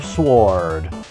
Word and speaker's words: Sword: Flame Sword! Except the W isn't supposed to be pronounced, but whatever.